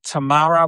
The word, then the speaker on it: Tamara: Um, hey, Joe, Tamara rhymes with Sahara.